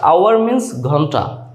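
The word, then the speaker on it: hour: word নিয়ে কথা বলব এইচ এর উচ্চারণ যখন সাইলেন্ট থাকে প্রথম পরিচিত শব্দটাই হচ্ছে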